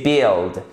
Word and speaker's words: build: on voit bien que le U i se prononce comme un i court donc ce n'est pas building build c'est build et donc le bâtiment